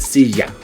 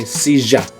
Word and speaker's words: silla: As you see, it has that double L, the ya sound. Now, if you go to certain countries like Argentina, they'll say silla. They'll have a j sound for ya. So it just depends on the dialect where you go. So silla. And in Spain, it might go thia.